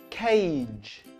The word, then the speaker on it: cage: Cage is a soft G sound.